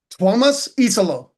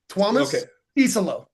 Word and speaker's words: Tuomas Isalo: Tuomas Isalo. I was so close. It's like Thomas, but with a W. Tuomas Isalo.